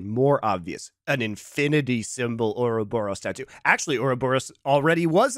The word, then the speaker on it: Ouroboros: The, I say a robber. It's Ouroboros. The snake eating its own tail, which, by the way, is usually very a circle. British pronunciation. Yes.